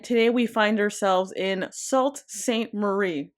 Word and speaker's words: Sault Ste. Marie: Uh, and today we find ourselves in Salt St. Marie. I said that right this time. I said it right.